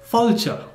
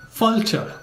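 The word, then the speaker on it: fáilte: Irish to say welcome in Irish you say fulta the spelling for that is f a father i l t e and the pronunciation is falter you may have noticed I say this in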